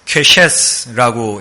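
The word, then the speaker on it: קשת: 레인을 잠깐 떼어놓고 보우만 좀 살펴보면은 무지개는 구약 성경의 원어인 히브리서에서는 퀘셰스라고 읽습니다. 바우, 즉 사냥이나 전쟁할 때 쓰는 활을 얘기하는 겁니다.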